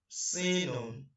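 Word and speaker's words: سين: The next one is sinun. Sinun. And the short form of pronunciation of it is sin.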